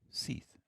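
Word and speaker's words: Sith: Spelled S-I-T-H. Pronounced Seath. I think that's a first. I would say. I don't think I've ever seen it before. So his parents win. His parents. They wanted something unique. They got it. And they did. It's not often when you see an I pronounced as a double E.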